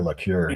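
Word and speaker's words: Laqueur: Um yeah, it's uh Walter Lure is his pronunciation.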